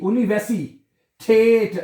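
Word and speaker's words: Universität: German जुबान में यूनिवर्सिटी को कहते हैं ऊनी वसीठे। ऊनीसिटेट ऊनी ऊनी वैसी ऊनी वैसी ठेट उमलाउ है ना उन नीवसिटेट आएगा ठीक है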